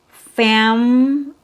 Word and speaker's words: family: the first two because here the schwa is so weak that it's removed. It disappears. So when you listen to native speakers, when they say this word with three syllables, you'll only hear two. Family. Family. I think your family is great. So, you don't hear native speakers say, "I really like your family. You have a very nice family." So, you don't hear three syllables. You hear two syllables because the middle syllable